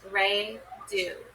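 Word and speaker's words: Raidho: Okay, interpreting the runes, pronounced Re Do.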